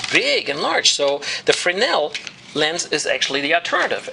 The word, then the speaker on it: Fresnel: I know it says Fresnel, that's how a German might pronounce it, but I know just enough French that I know it's pronounced closer to Fresnel.